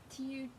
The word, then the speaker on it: pterodactyl: You know that there are some really wacky words that start with a silent letter.